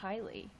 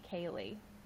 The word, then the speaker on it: Kaley: reference on the stream they say it like Kylie it's very clearly Kaley maybe it's just because